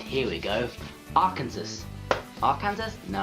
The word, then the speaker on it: Arkansas: Arkansas. Arkansas? No, I know it's Arkansas, but it's spelled Arkansas. Arkansas. R plus the place that Dorothy came from.